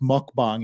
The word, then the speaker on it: mukbang: fashion eating mukbang or it's like it's pronounced mukbang in Korea you probably couldn't tell the difference in the pronunciation but there was one mukbang literally means like eating